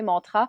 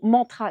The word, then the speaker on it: mantra: souvent utilisé dans les mantras et qui est un petit peu comme un e très subtil plutôt qu'un a. Par exemple, le mot mantra n'est absolument pas prononcé correctement.